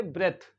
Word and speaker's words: breath: ब्रेथ क्या पढ़ेंगे ब्रेथ यानी ये जो टी एच है इसका साउंड भी देखिए और ई जो है ई वेरी ई ई जो है वो शॉर्ट वावेल ई को हम पढ़ रहे एन ई टी नेट जैसे एन ई एस T nest होता है ऐसे हम पढ़ रहे ई को सो यहां पे बी आर ई ए टी एच का सब जो साउंड निकल रहा है वो है ब्रेथ क्या है ब्रेथ क्या